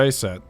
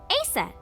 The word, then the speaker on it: Isis: dancing just dancing that I said horses mom has named Isis but in ancient Egyptian it's pronounced closer to ISA or ASA hmm how do I